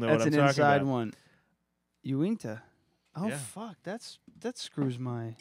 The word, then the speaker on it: Uinta: Yeah, so I'm drinking Uinta, which I realized today is not Unita.